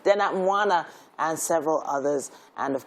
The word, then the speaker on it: Dena Mwana: Dena Mavwena? No, Mwana. Dena Mwana, and several others.